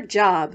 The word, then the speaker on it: Job: Ruth shouts 1-2 whee before going off to her job, which in the Bible is pronounced Job.